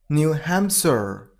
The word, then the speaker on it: New Hampshire: New Hampshire. New Hampshire. You gotta stress on ham syllable, so New Hampshire.